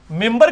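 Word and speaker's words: منبر: ممبر کے سپیلنگ کیا ہے؟ من بر، لیکن پڑھا کیا جاتا ہے؟ کیوں؟ کیونکہ نون کے بعد، نون ساکن کے بعد بار ہے.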